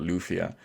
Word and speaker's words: Lufia: don't believe law or I call it Lafayette just the way I pronounce stuff it's due it's just Lafayette to me I know most people call it lufia but as far as